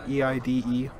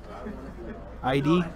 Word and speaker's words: Eide: E-I-D-E? Eade? Eide? Still staying out of combat. No shots. No shots. ID is how you say it? Oh, that's... none of my guesses were correct.